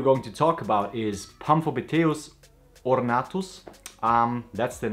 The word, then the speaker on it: Pamphobeteus: So the tarantula we are going to talk about is Pamphobeteus ornatus. That's the name. You most likely will pronounce it Pamphobeteus or something. That's totally fine. It goes with the English pronunciation very well, Pamphobeteus ornatus.